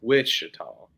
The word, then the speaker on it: Wichita: We don't spell it with the T, and we don't use a T. It's Wichita.